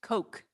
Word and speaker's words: Koch: oh yeah Coke it's coke coke it is Coca-Cola oh yeah okay from my hometown so I know them well that's that's about Koch or not Koch is pronounced in their families Coke okay good thank you